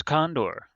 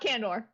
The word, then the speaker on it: Condor: human lands which is condor not candor different go to your